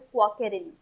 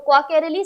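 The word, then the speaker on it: Quacquarelli: यहाँ पे जो Q है उसका जो प्रोनाउंसिएशन है दैट इज क्वाकेरेली, ठीक है। तो क्वाकेरेली साइमंस जो QS है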